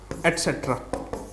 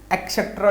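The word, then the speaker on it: et cetera: ETC का मतलब क्या होता है, एटसेट्रा। ध्यान से देख लो स्पेलिंग, एक्सेट्रा नहीं होता, एटसेट्रा होता है, एटसेट्रा।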